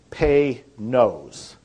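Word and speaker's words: Panoz: name and it's pronounce if you want to pronounce it right it's pay nose pay no like py and then no o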